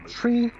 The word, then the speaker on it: three: But it's very well known that, you know, tree, fife, and niner. Those are the three numbers that are used when you're talking to ATC that you want to make sure you pronounce that way.